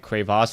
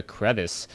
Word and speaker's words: Crevasse: actually asked me like why do I pronounce it cras as opposed to crevice um last time I read up on the map description um it was actually supposed to be the uh the French word or it isn't it isn't the English word for crevice it was cras so I've always been pronouncing it cros ever since but if